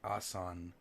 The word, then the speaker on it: Aswan: ma'am interested what ok Aswan are pronounced asan lies 934 kilometers south